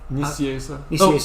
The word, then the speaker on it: Nicieza: How do you pronounce that last name? Nicieza.